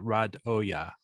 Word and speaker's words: Radoja: yeah he did great the pronunciation in the uh announcement is nman rad Oya so I know I